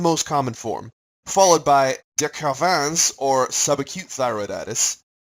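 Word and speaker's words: de Quervain: common form followed by de caravans or subacute thyroiditis bonus points should be pronounced it with an exaggerated French accent finally there's read else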